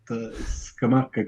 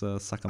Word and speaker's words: Sakamaka: in the air that Skamaka could score a hat trick today. Like, okay, go ahead and do that. No, you pronounce it wrong though. It's Sakamaka. I know.